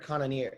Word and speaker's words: Cannonier: yeah i messed up i said kanye or something but it's jared conanier cannon yeah at least that's the majority of the way that i've heard it pronounced so i'm feeling confident